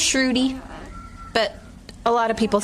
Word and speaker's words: Sruti: It's pronounced Sruti, but a lot of people say it a lot of different ways, so I will respond.